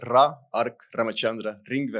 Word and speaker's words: Ra Ark Ramachandra Ringvee: Então, meu nome é Ra Ark Ramaxandra Ringve.